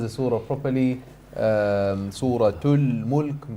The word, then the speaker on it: Suratul Mulk: Suratul Mulk, pronouncing the ta and the lam al-qamariyah.